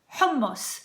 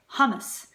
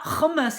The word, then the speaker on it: hummus: in the universe humus for some reason people really Massacre this one and they say hummus hummus sounds kind of sad doesn't it like I'd like some hummus humus no it's not humus and it's not humus either